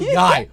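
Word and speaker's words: YIAY: He calls it Yay. I didn't know that. The that- Y-I-A. It's just called Yai. One syllable. Oh, it's called Yai? Yeah, this like- rhymes with guy.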